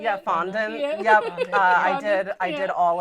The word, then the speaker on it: fondant: Fondant.